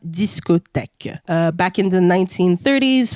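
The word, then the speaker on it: discothèque: back yeah discotek exactly if you guys wanted to know how it's pronounced discotek uh back in the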